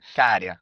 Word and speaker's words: Käärijä: How is his name actually pronounced correctly? I think he says Käärijä. - Käärijä. Käärijä. - Yes, that's it.